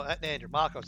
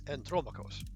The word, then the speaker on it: Andromachus: Okay, so no, Andromachus, it's Andromachus. So probably Greek then, going by the pronunciation.